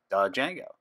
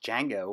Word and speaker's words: Django: I thought it was Django and then someone mentioned to me it's Django with a silent D so that's how you pronounce it and it was named